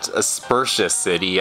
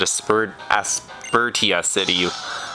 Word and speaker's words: Aspertia City: Yeah, it's actually, you actually pronounce it Aspersious City. I used to pronounce it Aspertia City when I first started this playthrough, but whatever, I know how to pronounce it now.